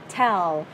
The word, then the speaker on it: tell: âm t, bật ra và mình sẽ là tell. Nhớ đến chữ lưỡi chữ l nghe, nghe nó khác liền. Nhìn khẩu hình miệng này nha, đọc sai nè. Tell tell, tell tell, đọc đúng ha.